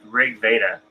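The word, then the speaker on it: RG Veda: talked about oh it's it's pronounced rig Veda and um it's I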